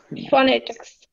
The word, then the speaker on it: phonetics: আর একটা জিনিস বলি, পিএইচ ইকুয়াল টু ফ, আপার টিথ লোয়ার লিপ, ফ উপরে দাঁত ঠোঁট, পিএইচ, হ্যাঁ। Phonetics. সো এবার সাউন্ড দেখেন, ফ আ, ফ, এই যে উপরে দাঁত নিচে ঠোঁট, উপরে দাঁত নিচে ঠোঁট, ফ। ন এ নে, ফ নে, ট ই খ স, tricks, phonetics, Phonetics. phonetics, ফনেটিক্স। ফনে না আপু, phonetics, Phonetics.